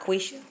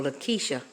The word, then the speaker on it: LeQuicia: It's not Quisha, although it seems to be spelled that way.